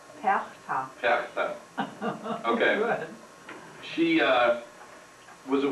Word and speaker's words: Perchta: Patricia? Perchta.